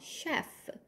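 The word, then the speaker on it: chef: 주방장입니다 자요 발음 주의하세요 CH 뒤에 이렇게이가 오면요 CH 소리가 아니라 쉬 소리로 바뀌어요 그래서 shf 주방장을 말해요 주방장입니다 자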